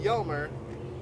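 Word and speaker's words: Hjalmer: Now, our four younger brothers could have helped, but the youngest, Yelmer, is spelled H-J-A-L-M-E-R, was only 4 years old when Dad passed.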